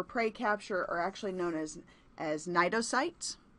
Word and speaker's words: Cnidocytes: The stinging cells we talked about that are used for prey capture actually known as Cnidocytes "cyte" = cell to